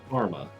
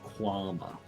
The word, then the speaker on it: kwama: says Karma. Sorry, that's actually pronounced Quama.